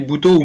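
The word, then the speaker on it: butoh: Oui, Buto ou Buto, on peut dire les deux, je pense. Je dis Buto parce que je l'ai découverte en particulier avec des Japonais. Et ils le prononcent de cette façon.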